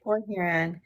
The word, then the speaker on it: Port Huron: Okay, Port Huron.